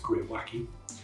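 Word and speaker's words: greywacke: Pyon scale and yeah it is pronounced gr wacky and this is an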